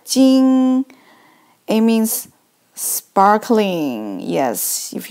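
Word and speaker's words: 晶: not kidding three sons so this character pronounced pronounced like Jing it means sparkling yes if you look at a lot of sons I mean something is really like shining they like sparkling so this is Jing the next character so we put here first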